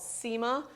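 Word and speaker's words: nsima: okay so this stuff right here is called SEMA it's spelled F NS I am a it's basically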